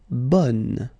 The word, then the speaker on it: bonne: Okay, so bon will become bonne. Okay, so the sound is changing quite much, because here you've got this nasal, bon, okay, and then bonne. Okay, bon, bonne.